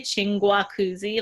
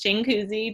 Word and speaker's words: Chinguacousy: people bring that up people say Chinguacousy like they pronounce the extra G and I'm like the G is silent it's Jingu Z just one I don't